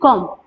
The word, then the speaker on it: comb: C-O-M-B, comb. We pronounce it comb, right?